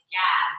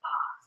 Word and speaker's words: Gad: We always say Gad, but it's actually pronounced God.